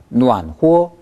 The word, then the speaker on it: 暖和: 후어는 역시 경성이니까 暖和 해보세요.